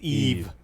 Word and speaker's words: Yves: we're French it's horrible how do you say ye-es and French Yves Jean Yves no silent its Eve thank you thanks ray